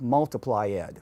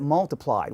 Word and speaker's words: multiplied: So why doesn't multiply give you multiply-ed? I mean, why isn't it like that? Why is it multiplied? Why don't we add that extra syllable as we do on the other 3?